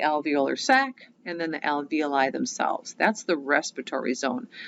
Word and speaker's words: alveoli: sac is called an alveoli that's how you pronounce it alveoli so again when we look at how the